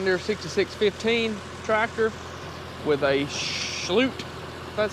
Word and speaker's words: Schulte: it's a John Deere 66 15 tractor with aute that's how you say it it's a srw1